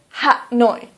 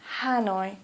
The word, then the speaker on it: Hanoi: so for example Hanoi please don't say hat noi police say Hanoi or for example Calcutta